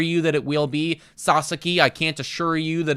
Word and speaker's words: Sasaki: going to be either Roki Sasaki, or Sasaki, excuse me, sorry. I literally, every time I say his name now, I have to catch myself.